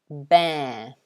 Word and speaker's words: bear: to you warren so the first word is pronounced bear bear so it's air this symbol here the second